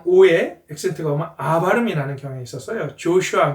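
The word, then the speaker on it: Joshua: 여호수아는 슈아슈아 영어에서는 오의 액센트가면 아바이라는 경에 있었어요 조슈아 그 슈아 그리고 사기가 저스 저지가 어 재판장이아요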